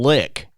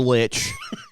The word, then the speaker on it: lich: He's a fucking lick. Or lich. Depending on how you want to pronounce it.